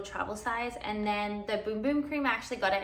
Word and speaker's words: Bum Bum: I actually also just learned that it's pronounced Boom Boom, not Bum Bum.